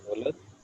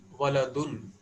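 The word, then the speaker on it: ولد: Now, it is a rule that whenever we have to stop, then at that point of time, last alphabet isn't pronounced. There is, okay, whatever may be the sign, we have to pronounce it as a sukun.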